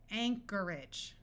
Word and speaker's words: Anchorage: Al Alchemy Alchemy Anchorage notice that the o r takes on a muffled R sound and AG g e at the end of a word rather than having a clear long a sound and sounding like age tends to take on an edge sound Anchorage that's a city